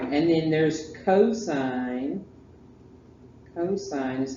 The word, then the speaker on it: cosine: right and then there's cosine cosine is how you say it don't call it cos and then tangent t in g tangent sine cosine tangent and you say